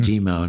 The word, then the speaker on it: Dimow: me before we started how to pronounce my name which is pronounced demo spelled D IM but the uh the Portuguese pronunciation for I am is is e like you know like